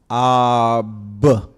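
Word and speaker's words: אב: Because we know that The bait has the b sound, right? Aleph is silent until it has a vowel. So this would be ab, which means father.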